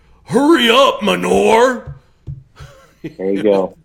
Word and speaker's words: Hurrey: I had this, DI that was just like, hurry up, Manor. There you go. That's all. Well, think of that when you pronounce my name. You'll get it right that way. Hurry.